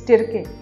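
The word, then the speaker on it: Tirkey: Apart from Marandi, the other two winners were Pradeep Yadav and Bandhu Tirki or Tirke, pardon for the pronunciation, but it's Tirke.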